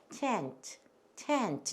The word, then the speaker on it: tent: 그래서 텐트가 아니고 tent 이렇게 돼요.